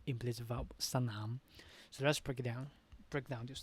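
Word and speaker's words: สนาม: Sanam, not snam. If we used gliding cluster, it would be snam. But actually, it is an implicit vowel at that sanam. So here you can hear two syllables. The first one, sa. The second one, nam. Sanam.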